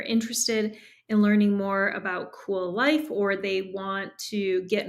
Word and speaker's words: Kuel: to the website and it is spelled with a K so it's cool life but it's k-u-e-l life and there you can